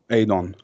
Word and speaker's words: Edon: And Eden or Edon, pronounced like Albanian wise, means being like it's hard to explain grammatically wise, but I think it's like being loved or loved one.